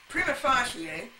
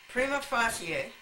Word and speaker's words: prima facie: here are the agenda prima facie and by the way that's the way you pronounce it it's a Latin word and you pronounce it that way the Romans pronounce all syllables prima facie the reason you don't